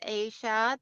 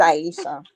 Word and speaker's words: Aysha: like to learn about Asia then and I know I'm saying it wrong I'm so sorry it's Aisha Aisha yeah there's a lot